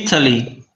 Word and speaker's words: Italy: inglês essa palavra aqui ó E aí o Italy Italy Qual é a sílaba tônica meu amigo em qualquer uma dessas